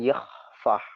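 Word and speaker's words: Yahweh: Jadi begini, kalau YHWH itu kan nggak ada, itu kan disebutkan Yahfah.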